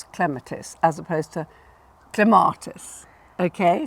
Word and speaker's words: Clematis: If it's only 2 or 3 syllables, and Clematis or Clematis is 3, then the stress is on the first syllable. So it's clematis as opposed to clematis.